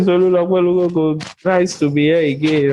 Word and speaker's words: Olukokun: You still pronounce that my name. Why? I'm not Yoruba. It's fine. My name is Olukokun.